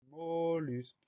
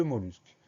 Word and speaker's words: mollusque: Première syllabe, mot, M-O, pas de problème. Deuxième syllabe, lus. Alors attention, dans mollusque, il y a deux L. On pense bien à mettre ces deux L. Donc, M-O, deux L-U-S, mollusque.